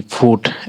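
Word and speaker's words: fruit: यू और आई है यू आई का उच्चारण उ हो जाता है यू होता है और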